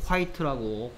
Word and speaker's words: quite: 발음이 뭐라고? quite라고 quite.